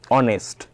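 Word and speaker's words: honest: An hour, অনেস্ট, অ্যান অনেস্ট, ঠিক আছে?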